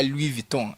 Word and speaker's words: Louis Vuitton: It's their time to buy Louis Vuitton. Is how you pronounce it.